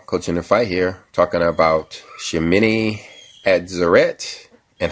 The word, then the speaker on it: Shemini Atzeret: Now, with all this going on, this eighth day of the Feast of Tabernacles that they call Shemini Atzeret, I believe is how it's pronounced, is actually already a significant day.